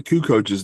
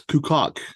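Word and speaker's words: Kukoč: basketball game and a video game, and Tony Kukoch's name came up, and Trevor pronounced Kukoc as Kukok, and I never got over that.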